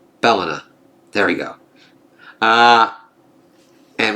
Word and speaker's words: Bellona: uh not balas uh balona uh Bala it is kind of like balona but sorry another pronunciation is going nutty with me on that one I just keep hearing balona not Bellona there we go uh